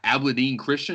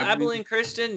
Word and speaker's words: Abilene Christian: right now uh in 3c texas and uh abladin christian is that how you pronounce it uh abilene christian yeah okay don't know about